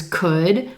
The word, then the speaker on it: could: Also, notice there's an L in these words, but that L is totally silent. You don't hear it at all. Could, would, should.